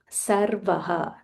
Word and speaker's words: Sarvah: So we need to be very careful when we are pronouncing sir and sh because when we um change by mistake the meaning changes.